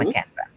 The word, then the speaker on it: Marquesa: Jakara, I believe is how we pronounce Hmm. her name. Yours is Marquesa or Hmm. Marquesa.